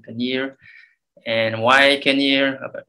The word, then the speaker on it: Kenyir: from cairns to kenya some people pronounce it kenya but actually paneer and why i can